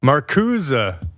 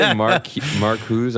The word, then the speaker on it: Marcuse: Every time you say Marcuse, I think J'accuse. Well, that's exactly it, I think. But anyway, it doesn't matter. Okay, yeah. It sounds French. That's why I say it like that.